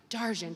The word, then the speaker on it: Darjean: I did it wrong. Darjan, she told me to do it the French pronunciation.